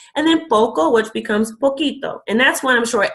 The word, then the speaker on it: poquito: So you might notice that poquito is spelled with a Q, and that's just to maintain the sound of the word. So if it was spelled P-O-C-I-T-O, it would actually be pronounced posito.